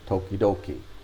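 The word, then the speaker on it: ときどき: from time to time toki means time toki and then it's repeated twice the second t gets changed into a d tokidoki means sometimes is bread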